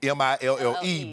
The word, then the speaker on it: Mille: that's is you know mi ll e but it's pronounced me I got it I